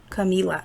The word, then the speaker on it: Camilla: his students um to think of the the word camilla the name camilla you know i know some people say camila you know it depends